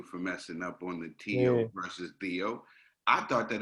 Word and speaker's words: Teo: Teo, not Theo, because last time I said Theo and I got G. It's Teofimo. Teofimo. As much as I want